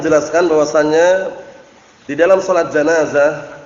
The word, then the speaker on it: janazah: Kemarin sudah kami jelaskan bahwasannya di dalam sholat janazah, bukan jinazah ya, ingat-ingat, janazah itu mayitnya, kalau jinazah itu kerandanya. Dibedakan dengan apa harokatnya.